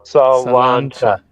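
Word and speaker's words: sláinte: Yeah, but it's pronounced like I did on that first one. Salancha.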